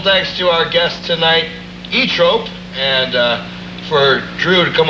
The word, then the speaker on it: Zoetrope: For once and for all, it's pronounced ZOETROPE.